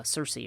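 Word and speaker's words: Circe: a niece of uh Cersei or kir depending on how you say it and she was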